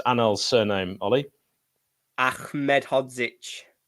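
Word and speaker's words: Ahmedhodžić: uh Wes in goal uh how do you pronounce annel's surname Ollie Ahmed hodzich it's close uh Egan with his 50p head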